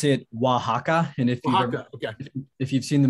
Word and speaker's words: Oaxaca: You pronounce it Oaxaca, and if you've seen the movie Coco by